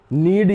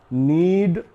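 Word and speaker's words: knead: नीड यानी आटा गूंदना, तो ये जो के है यहां पर भी साइलेंट होगा, ये लिखा तो जाएगा लेकिन बोला नहीं जाएगा, नीड आटा गूंदना।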